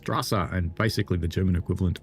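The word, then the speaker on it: Straße: Strasa is pronounced Strasa and basically the German equivalent of street."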